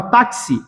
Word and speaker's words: táxi: Por que cinco fonemas porque eu pronuncio a palavra táxi assim dessa forma eu pronuncio o X tem som dkss então táxi tem quatro